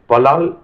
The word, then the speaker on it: פלל: ஜெபம் என்பதை எபிரேய மொழியில் பலால் என்று உச்சரிக்க வேண்டும்.